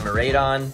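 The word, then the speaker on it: Miraidon: and then uh of course there's uh the marade on that's how you say it ex alt art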